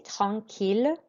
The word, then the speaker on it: tranquille: And note here, because you've got the L sound before an E, we pronounce it. Okay, écoutez et répétez tranquille.